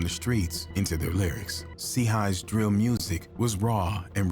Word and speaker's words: CHII: The name wvttz, pronounced Watts, paid homage to an LA neighborhood, while CHII, pronounced C-High, signified his affiliation with the Crips, a notorious street gang.